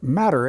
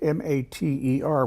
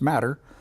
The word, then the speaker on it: Mater: The Matter, and I know that you'll see it as M-A-T-E-R, which most people would pronounce as Mater. But a lady in Florida who got this thing started, her family name is Matter, and she spells it that way, so they're sticking with the pronunciation.